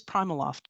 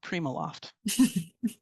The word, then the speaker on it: PrimaLoft: And it is PrimaLoft, not PrimaLoft.